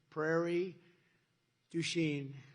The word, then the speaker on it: Prairie du Chien: So we're here today in Prairie du Chien. Is that a good? Yeah. Good pronunciation.